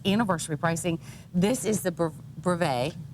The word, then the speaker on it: brevet: This is the brevet. Right. I always say it wrong. I always stick a T on the end of it.